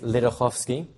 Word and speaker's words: Ledochowski: learned the name is lovsky the easiest way to pronounce it is if you take the C out in the middle and change the W for an F that will phonetically work